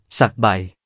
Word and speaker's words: สไบ: ไสฺบ) การออกเสียง การแบ่งพยางค์ สะ-ไบ หลายคนเข้าใจว่าคำนี้ มาจากภาษาเขมร แต่ความจริงคำนี้เป็นคำภาษาขอม ที่ชาวสยามใช้มาก่อนชาวเขมรถึง